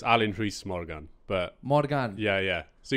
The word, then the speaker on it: Alun Rhys Morgan: not actually no it's Alan Rees Morgan but Morgan yeah yeah so you just say Alan is fine oh okay yeah it's absolutely fine but yeah the Welsh pronunciation is Alan Rees Morgan ah but is there